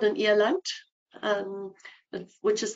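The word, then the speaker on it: eland: an it's called an eant um which is spelled e l and D um comes from an afan's pronunciation where D is pronounced almost as a t um and these are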